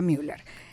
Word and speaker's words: Müller: Síganla en su Instagram, que por cierto estamos en live, @DRA.SorayaMüller, se escribe así. Soraya, pero se dice Soraya Müller. Doctora punto, en abreviatura, Soraya Müller.